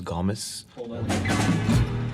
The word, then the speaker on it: Gomes: this is Gomes well the correct pronunciation is Gus this is Gomez but I I say GES cuz I this is